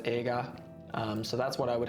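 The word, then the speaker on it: 映画: would be the kanji for movie which is pronounced aega so that's what i would have for my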